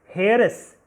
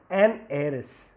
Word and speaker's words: heiress: silent and that's why is it is not pronounced as Harris it is eros and that's why it is an an heiress okay similarly you can see you can read